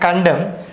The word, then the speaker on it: condemn: Okay, so autumn N is silent and condemn N is silent.